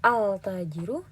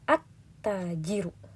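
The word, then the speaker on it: التاجر: Kita tidak membaca al-tajiru, tapi at-tajiru.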